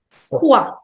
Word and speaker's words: froid: Froid. Froid. Froid, which means cold. So the pronunciation of OI in French is always OA.